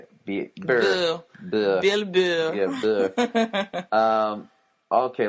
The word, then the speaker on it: Burr: Burr.